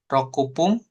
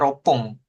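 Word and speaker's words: 六分: Ipung, terus sanpung, yongpung, rokupung. Nah, rokupung nggak ada ya, adanya ropung.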